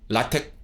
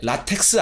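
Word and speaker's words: LaTeX: 블록 렌더링 가능해진 거고 라텍 가능해진 거고 이거 이제 영어쟁이 분들한테 라텍스 아니고요. 라텍스 아니야. 이건 기술적 용어기 때문에 라텍이라고 읽어요. 라텍 tx가 테크라고 발음이 되는 거야. 라텍이라고 읽는 겁니다.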